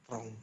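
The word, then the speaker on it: ตรง: Ini masuk ke konsonan ganda. Dia DR langsung. Kalau ditambah ini, tambah konsonan lagi, ngongu, dia otomatis bersuara O juga. Trong.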